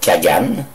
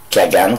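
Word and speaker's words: Khaghan: Leur chef, le Kagan, qui s'écrit K majuscule H-A-G-H-A-N, Kagan, qui veut dire le Khan des Khans, ça veut dire le roi des rois.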